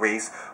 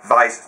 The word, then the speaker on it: Weiss: Well, some people say it's pronounced Weiss, not Weiss. Obviously, I know that. Weiss, German.